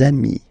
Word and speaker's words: amis: you will get des amis, okay? Des amis. So ami, remember, doesn't change. Even if you get to write the S, then you don't pronounce it, okay?